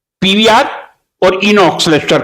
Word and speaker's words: Inox: इसका सही प्रोनाउंसिएशन यही होगा, पीवीआर इनॉक्स।